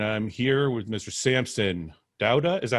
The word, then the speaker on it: Dauda: number 56 and i'm here with mr samson douda is that how you pronounce it yeah that's right yeah you got